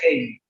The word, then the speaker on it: Halley: Henry Halley, o Haley, es como Halley, como el cometa Halley, pero según los entendidos se pronuncia Haley.